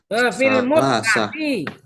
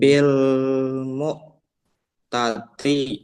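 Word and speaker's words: المتعة: Wa'i radhiyallahu sallallahu qala rakhasa Rasulullah sallallahu alaihi wasallam ama autosin fil ma'ati mut'ati. Yang benar bacanya. Kamu kok bacanya nggak benar. Bil mu'tati. Salah. Mut'ati. Dengerin. Salah bacanya mu'a gimana? Mut'ati. Ayo.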